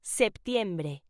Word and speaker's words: septiembre: September in Spanish is pronounced septiembre.